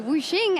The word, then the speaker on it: Wuxin: I'm joined here by Wuxing, as I was advised by Wenson is the correct pronunciation, for the 80 carry